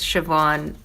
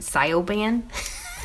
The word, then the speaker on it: Siobhan: know the spelling of it because siobhan it looks like scio band and it was like style band it looked so bad but after that i